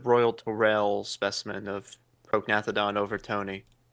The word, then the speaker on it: overtoni: torell specimen of prognathodon overton. Oh yes, they have there's there's overton I mean that's what that's how I personally pronounce it. You could also say overtoni but overtoni I mean tomato.